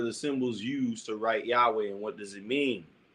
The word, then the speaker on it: Yahweh: The name Christians vocalize it as Jehovah, a hybrid form. Scholars render it as Yahweh, probably closest to the original sound.